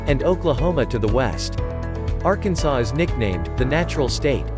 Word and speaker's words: Arkansas: Arkansas, pronounced without the S at the end, is a state located in the southern region of the country.